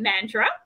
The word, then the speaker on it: Mandurah: good a good distance well first of also pronounce it mandra um so so mandra um obviously there's beautiful